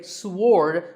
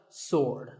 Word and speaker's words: sword: about this word sword many people say sword but that is totally wrong it's just sword and here's one last